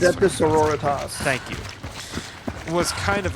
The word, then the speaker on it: Sororitas: I don't know how to pronounce it. Adeptus Sororitas.